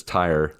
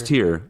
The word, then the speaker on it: Tyr: tear yes all right I think I pronounced it as Tire until they said it out loud no it's tear I think it's tear no when I read it t-y-r-e I always I wanted to say tire and I think atreus